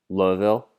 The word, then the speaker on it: Louisville: i might say it wrong but people say louisville like you said like one one louisville but